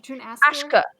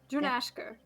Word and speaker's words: Drunashka: Drunasker? Ashka, it's Ashka. ash. Like think like ash. Ashka. Yeah. Drunashka, which is on the other coast.